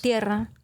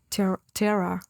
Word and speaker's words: Tierra: Tierra. This is tierra. I am not going to be able to say that. How do you say it in English pronunciation? What would the... Terra.